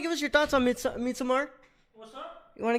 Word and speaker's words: Midsommar: Midsommar, is that how it's pronounced? Yeah, that's how Aster says it.